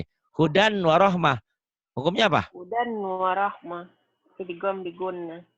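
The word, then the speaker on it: هُدًى وَرَحْمَةً: Hudan warahmah. Idgham diguna. Jadi bacanya gimana hudan warohmah? Huda warahmah. Huda warohmah. Kenapa? Apa alasannya? Fathatain ketemu wow.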